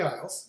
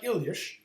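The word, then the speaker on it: Illyes: that was fascinating a different Google employee Gary ilish who I used to call Gary Isles but I've recently heard his his name pronounced by him properly and it's more like ilish so that's how I'm going to say it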